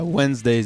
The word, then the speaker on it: Wenzdaze: a z like how is that pronounced yeah wednesdays it's spelled w-e-n-z d-a-z-e yeah get that welcome to